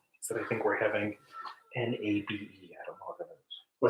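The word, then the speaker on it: 鍋: It's pronounced nabe.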